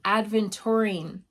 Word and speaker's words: aventurine: But it does have that sort of grounding sort of energy, and also adventurine.